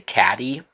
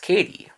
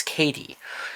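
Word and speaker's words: Cady: I keep wanting to say Caddy the way that her name is written, but it's pronounced Katie like in Mean Girls. It's Katie.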